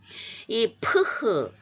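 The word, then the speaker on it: φ: 사랑하다 입맞추다예요 명사형은 필로스인데이 프흐 이게 알파벳 이름이 프흐 아아 원래 알파벳은 그 소리 값을 대변하는 그래서 우리가 알파벳을 배우는 거거든요 그래서 알파벳 배울 때는 프라고 해놓고 또 이제 단어 읽을 때는 레요 이렇게 발음하면 저도 쉬운데 제가 요한복음 이제제 1장 1편에서 3편 할 때 발음하면서 어 저는 그대로 흐로 하기로 했습니다 그래서 계속 하고 있는데이 발음 기가 번거로운 분은 편하게 F 발음 하셔도 됩니다 예 왜냐면이 프흐 발음이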